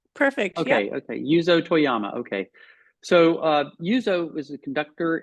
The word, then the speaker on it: Yuzo Toyama: is it yuzo Toyama is that the correct pronunciation perfect okay okay yuzo Toyama okay so uh yuzo is a conductor and